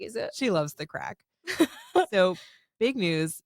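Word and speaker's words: craic: And I always thought the word was crack. It's spelled like C-R-A-I-C. They had to explain it to us there. Until we were in Dublin and they were like, it's crack. Get your crack on.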